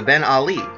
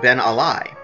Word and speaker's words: Ben Ali: there that may think the race has actually pronounced the Ben Ali no not that Ollie although both are person and the greatest ever were born in Kentucky it actually pronounced then a lie and is named after James been a lie